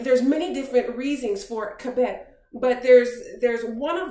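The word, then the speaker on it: כבוד: Hebrew the the word glory is is is pronounced cabet and there's many different reasons for kabet but there's there's one of them that caught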